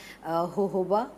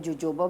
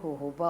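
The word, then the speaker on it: jojoba: Almond oil इज ज़बरदस्त है, but skin के यूजली रेकमेंड करते हैं होहोबा, जिसको हम पाकिस्तान में जोजोबा बोलते हैं, तो वो जे से जो होता है तो उसका प्रोनाउंसिएशन है होहोबा ऑयल, वो ज़बरदस्त रहेगा।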